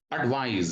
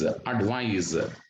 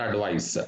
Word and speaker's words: advise: Look at the pronunciation here. Advise, advise, not advice, advise.